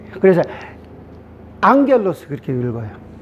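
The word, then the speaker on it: ἄγγελος: 그래서 우리가 앙겔로스 그러잖아요. 그렇죠? 그래서 감마인데 어떻게 엥 발음 나냐? 그러니까 이 두 개 음이 겹칠 때는 앞에 감마를 엥 발음으로 읽는다.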